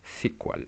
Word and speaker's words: SQL: bases de datos y el lenguaje sí cual o sea sql pero se pronuncia así cual utilizado para realizar consultas